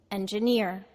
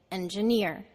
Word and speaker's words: engineer: examples listen and repeat engineer the second syllable is de-stressed Ja and the third syllable is near so we say it engineer engineer English the first